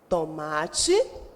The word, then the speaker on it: tomate: Quando eu escrevo tomate, eu pronuncio tomate, o ma sai mais forte.